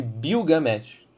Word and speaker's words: Bilgamesh: Porém, no sumério, a língua em que encontramos os primeiros relatos dele, eles o chamam de Bilgamesh. Okay? Tem uma mudança ali na primeira sílaba.